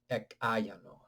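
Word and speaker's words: ekāyano: But when they are pronounced together, ek ayano.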